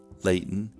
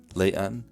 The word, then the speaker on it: Layton: General American pronunciation releases glottal stops nasally. They sound like this: mitten, Layton, mountain, beaten. What people hear that is different in Utah is that glottal stops are released orally. They sound like this: mitten, Layton, mountain, beaten. Essentially, the oral release puts a vowel between the glottal stop and the N sound.